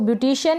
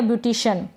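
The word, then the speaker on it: beautician: तो यहाँ पर इसको ब्यूटिशियन या ब्यूटिशन दोनों तरीके से प्रोनाउंस कर सकते हैं।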